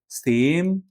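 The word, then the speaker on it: same: लेकिन अगर आप ये वाला श लगा के पढ़ देंगे तो मतलब अलग हो जाएगा। जैसे सेम का मतलब होता है एक जैसा। और आपने अगर यह वाला श यूज़ कर लिया इसमें बोलने में, तो इसका मतलब हो जाएगा शेम।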